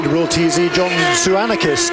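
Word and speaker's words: Tzouakanis: R real TZ John sanakis TZ o u a k a n i s is how pronouncing hence the TZ and uh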